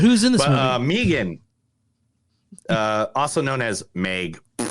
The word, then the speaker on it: M3GAN: do you pronounce it it's Megan but but I'm called name freaking because that's what it says M3 again is what you're going